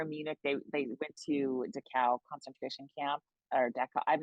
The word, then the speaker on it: Dachau: They went to Dachau concentration camp, or Dachau.